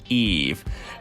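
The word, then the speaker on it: Yves: we're almost done okay the Y is pronounced like an e and the S is silent and so it's Eve it's the French spelling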